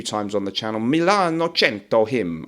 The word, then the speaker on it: Cento: on the channel, MILANO CENTO HOMME. I think you're supposed to say Cento, not Cento.